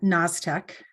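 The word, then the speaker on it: Gnaztec: a small business uh naztec um which I think if you Google that you'll see that it starts with a g and not an n as it's pronounced and that trips a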